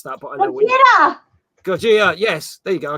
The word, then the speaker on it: Gojira: I can't pronounce that, but I know. Gojira.